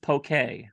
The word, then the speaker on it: poke: accent thank you but it's pronounced poke yes it's Hawaiian and I was gonna